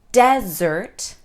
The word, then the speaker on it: desert: stress the first sound desert this refers to a desert a dry and barren place if we stress the second sound dessert we are talking about a sweet treat all right does that